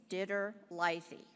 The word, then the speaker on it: DiTerlizzi: Tony Diterlizzi, who created I'm sorry, I mispronounced his name. It's Diterlizzi.